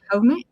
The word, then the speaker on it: Jaume: Actualmente cursa el doctorado en la Universidad de Jaume, bueno, así se pronuncia, en Castellón, profundizando en las preguntas que lo acompañan, cómo dialogamos, cómo nos organizamos y cómo tejemos sociedades más justas.